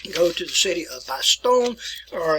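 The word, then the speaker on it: Bastogne: into the sun go to the city of by stone or it's in belgium and they pronounce it by stony i didn't write it down for you good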